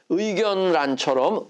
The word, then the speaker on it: 의견란: 발음해서 날로 발음하는 거예요 근데 의견란처럼 의견하고 란을 잘라낼 수 있죠 이럴 때는 어떻게 발음해야 돼요 의견란 이렇게 발음해야 되는 거예요 신라는 신하고 라를 자를